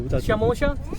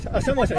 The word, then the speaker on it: samosa: shamosha. Samosa.